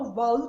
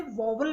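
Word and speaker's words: vowel: अब ध्यान दीजिए, मैंने यहाँ पे बोला वाउल, बहुत से लोग इसे वॉवल भी बोलते हैं जो कि सही नहीं है। इसका करेक्ट प्रोनाउंसिएशन है वाउल।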